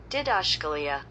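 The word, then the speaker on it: διδασκαλία: Didaskalia. Yeah, that's how you say it in Greek.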